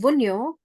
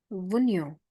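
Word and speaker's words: Wunjo: which is called Vio J is silent in this Vio it looks like a flag Tas difference Tas is this way in between the triangle and vuno is like a flag vuno it means fulfillment Joy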